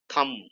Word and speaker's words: thumb: should be pronounced as thumb thumb b should be kept silent okay it could have